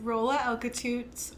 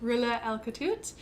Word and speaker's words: Roula Alkatout: name and your birthday yeah my name is Rolla Alka toots or pronounced the airplane Rula Alka toot and my birthday is July 14th 1990 great